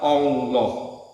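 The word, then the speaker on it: الله: Hamzahnya dihilangkan untuk mempermudah membacanya. Lalu huruf lam yang pertama diidhamkan pada lam yang kedua sehingga menjadi satu lam yang ditasdid. Lam atau lalu lam yang kedua dibaca tebal sehingga dibaca Allah.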